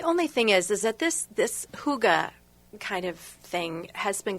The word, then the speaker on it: hygge: And it's spelled Hygge. Hygge. Hygge. Hygge. Yes. I'm Italian. Well, me too. Hygge. I know. It's just not an Italian. It has no rhythm to this word.